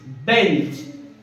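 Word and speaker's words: bench: দেখো বি ই এন সি এইচ, বেঞ্চ। বি ই এন সি এইচ, কি হলো এটা? জোরে কথা বলো। তাহলে সিএইচ এর উচ্চারণ কি হচ্ছে?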